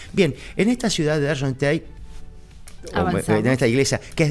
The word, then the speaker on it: Argenteuil: A ver cómo lo pronuncia. Argenteuil. Toma. Argenteuil.